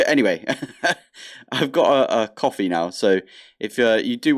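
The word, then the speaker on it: Ko-fi: set up a coffee I think that's how you're supposed to pronounce it cof Kofi coffee it looks like a coffee mug so I'm going to say coffee but I was wrong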